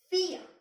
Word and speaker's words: vier: And then I told you that in German, V is pronounced as F.